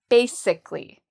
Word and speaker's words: basically: Ba is the first part and that's where the stress is. So we say ba louder and longer. Basic like sick. Basically.